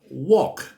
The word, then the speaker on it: walk: อย่าง เช่น คำ ว่า Walk เนี่ เห็น ม มี ตัว L แต่ ไม่ ออก เสียง แ ไม่ ออก อ่า